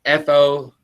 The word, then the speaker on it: Florissant: Florissant is Floursscent, right outside of St. Louis. Flourescent? Flour, like flour, and then scent, yeah.